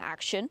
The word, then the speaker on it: Actyon: So, this is the KGM Action or you can pretty much pronounce it any way you wish. It's spelled Action. brand is saying to call it the action and that makes me